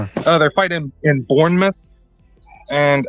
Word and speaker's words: Bournemouth: Uh they're fighting in Bournemouth. And I heard Dana White pronounce it Bornmouth.